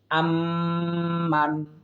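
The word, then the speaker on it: أَمَّنْ: এরপর দেখুন আম্মান, এখানে আম হরকতের বামে মিমে তাসদিদ এসেছে, সুতরাং এটা আমরা ওয়াজিব গুণনা করার চেষ্টা করব। আম্মান, এই মানে আমরা কোনো গুণনা করব না, যেহেতু ইজহার নুন সাকিনের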